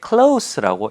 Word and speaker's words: close: close, 가까운이라는 뜻을 가질 때는 close인데 문 좀 닫아주세요 할 때 close the door please 할 때는 그 닫다라는 동사로 쓸 때는 close 시오 발음이 아니라 Z 발음이 됩니다.